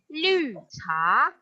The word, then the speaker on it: 绿茶: Jadi green itu lu. Apa? Lu. Jangan Liu kan nanti jadi 6 ya. Lu. Oke. Jadi kalau mau green tea bacanya lu cha.